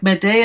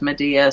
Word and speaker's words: Medea: madea well either like madea is more like the greek pronunciation but everybody says medea so okay i guess